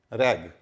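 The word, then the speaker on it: rag: तो आखिर में अगर जी होगा तो हमेशा ग होगा, और जी के बाद ई आ जाएगा तो ज हो जाएगा। जैसे आर ए जी रैग, ठीक है, आर ए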